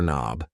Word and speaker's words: knob: here is a door knob yes the K in knob is silent and these things here